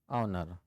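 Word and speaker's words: honour: okay an owner an ऑनर तो यह शब्द से पहले हम क्या कर रहे हैं यह साइलेंट है एच आवाज उसके बाद है भी वोवेल्स और आवाज भी वोवेल्स की है अब कुछ ऐसे वर्ड्स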